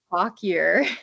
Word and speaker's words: Fauquier: It's Fauquier, and it's pronounced Fauquier.